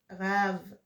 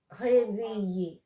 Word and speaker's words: réveiller: Okay, there's no A sound, so it's not rave. It's réveiller.